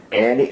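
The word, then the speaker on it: Enny: Annie, I always E-N-N-Y, but it sounds like Annie to me.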